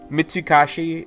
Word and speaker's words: Mitsukoshi: a mall it's a store I mean it's mitsuhashi and I'm sure I'm killing the pronunciation but basically it's a store chain based